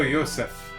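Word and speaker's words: Josef: pronounced Joseph yes oh Yosef uh I believe it's supposed to be like a Hebrew or something pronunciation um a man living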